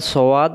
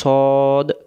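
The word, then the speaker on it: صاد: এই অক্ষরের নাম হলো সদ, মুখটা গোল হবে সদ। আর যদি আমরা বলি সোয়াদ, মুখটা ফাঁকা হয়ে যাচ্ছে, তখন এর উচ্চারণটা ভুল হয়ে যাচ্ছে।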